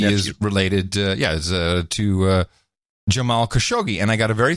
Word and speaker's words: Khashoggi: this dimension and then he gives me a little help on pronouncing khashoggi he says no ID he has actually he says the Italians do have a lot more fun with the Khashoggi name as they really highlight the cash part of it the italians